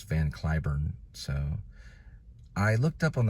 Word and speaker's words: Cliburn: anthem in Arlington at a ballpark and they mispronounced it and said U they called him van curn but it's actually Clayburn like rain clay Clayburn well according to many reporters it's van kurn so I looked up on the IPA on